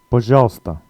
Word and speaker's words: пожалуйста: If you sound this out in Cyrillic letters, it looks a bit like пожалуйста, but it's not pronounced like that. It's one of the few words that isn't pronounced exactly as it's written.